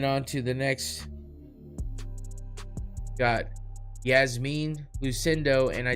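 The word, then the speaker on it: Iasmin: Yasmine lucindo and I did not spell that wrong that is how she spells it the exact catches my eye every time I'm like i8s that's weird but it is it's pronounced Yasmine lucindo versus Brogan Walker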